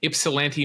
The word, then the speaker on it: Ypsilanti: his brother James in Ypsilanti, Michigan on this day in 1960. A nice pronouncer there where you knew the Y was silent, Moshe.